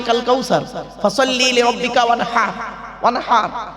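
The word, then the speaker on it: وانحر: ওয়ানহার, এই গলার ভেতর থেকে হেটা উচ্চারণ করবেন, ওয়ানহার।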